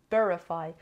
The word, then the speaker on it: verify: Cara number five verify verify has three syllables and de-stresses on the first level verify verify means to prove